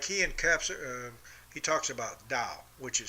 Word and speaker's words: Tao: Like he talks about Tao, which is spelled T-A-O.